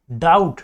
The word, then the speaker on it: doubt: तो देखो मेरे भाई, डाउट, DOUBT, डाउट। तो डाउट में ना हम बी को पढ़ते ही नहीं है, बिकॉज बी क्या है, इसमें साइलेंट है।